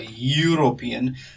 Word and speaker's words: European: is pronounced as a European. Since there is a year sound, we are going to use the word a.